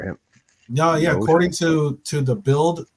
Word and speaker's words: Bild: No, according to the Bild, right?